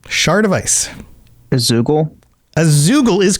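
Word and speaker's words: Zeugl: A Zoogle?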